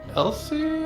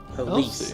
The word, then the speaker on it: Elise: The only dead monger I could stand was a girl named Elsie, I think it was. She was a decent sword. Didn't just talk shop. Elise, I believe is how that's pronounced.